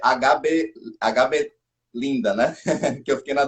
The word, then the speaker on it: H.B Lynda: Uma coisa, a pronúncia é HB Linda, né?